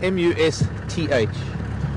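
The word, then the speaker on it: musth: haven't heard of it it is spelled m-u-s-t-h not m-u-s-k as in musk as in muskox or musk produced by the glands of some animals this is must it is a period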